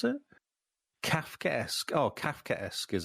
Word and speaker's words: Kafkaesque: Oh, Kafkaesque is how you pronounce it.